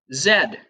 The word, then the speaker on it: Z: here's another interesting one the letter Z is pronounced Zed and some people in